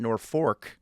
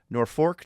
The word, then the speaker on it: Norfolk: Uh or they call it's it's spelled Norfolk, but uh if you're from Norfolk, uh they pronounce it Norfork. Norfork, Nebraska.